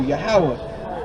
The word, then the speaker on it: Yahweh: The Most High God, his name is Yahweh. That's how you say it in Hebrew, Yahweh.